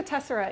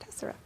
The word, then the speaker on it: tessera: And sometimes people want to call it tessera, but here's your opportunity to say, no, I actually attended a presentation. It's pronounced tessera.